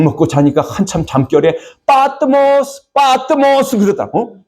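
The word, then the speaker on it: Πάτμος: 약 먹고 자니까 한참 잠결에 빠뜨모스 빠뜨모스 그러다고. 어 빠뜨모스. 예 굉장히 현대이 마단 그릭은 발음이 강해요. 그래서 성경 우리는 학교 때다 파트모 파트모스 그렇게 배웠는데 파트모스 그러다.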